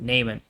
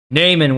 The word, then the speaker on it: Naaman: I believe that's how you pronounce it, Naaman.